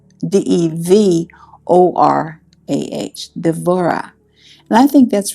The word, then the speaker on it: Devorah: our a-h and then in Hebrew it's devorah d-e-v-o-r-a-h devorah and I think